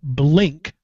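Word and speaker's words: Blynk: to the show ok it's called blink but it's spelled BL y NK a blink are um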